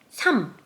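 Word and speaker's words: 삼: i 3, sam.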